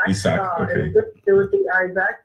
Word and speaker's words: Isaac: I've been calling him Isaac. Well, you know, in Spanish it's Isaac. Isaac, okay. It would be Isaac.